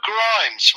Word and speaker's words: Grimes: Grimes. Rhymes with crimes.